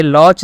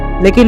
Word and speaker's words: Loch: ये लॉच नेस मॉन्स्टर नहीं बल्कि लॉक नेस मॉन्स्टर है।